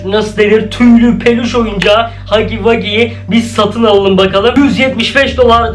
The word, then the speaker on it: Huggy Wuggy: Şimdi ise hemen hiç vakit kaybetmeden Poppy Playtime'daki Hugi Wugi, Hugi Wugi diye okunuyor aslında da, onu sipariş edelim.